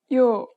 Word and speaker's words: 요: 유, 유, 유, 유, And the next vowel is, 요, again, add a short Y sound to the O.